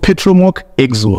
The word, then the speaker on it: Petromoc Exo: So it's called Petromoc Exo. It's very hard to pronounce if you don't separate the two. Exo. So it's two words, Petromoc and Exo.